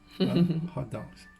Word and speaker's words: hotteok: Hot dogs. It's spelled hot dog, H-O-T.